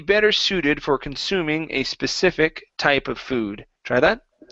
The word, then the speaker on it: specific: All right, so might be better suited for consuming a specific type of food. Try that. Might be better suited for consuming a specific type of food. So instead of specific, it's specific, a specific type of food.